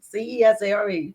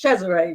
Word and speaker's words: Cesare: but spell it right. Cesare, not Yeah. it's Cesare. We laughed about it. It's not So that's Caesar the way you salad, people.